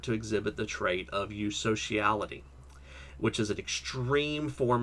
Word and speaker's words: eusociality: So what exactly is eusociality? Pretty sure that's how you pronounce it, because it's true sociality. It's EU, I'm pretty sure, is the Greek for true. Let me look that up real quick.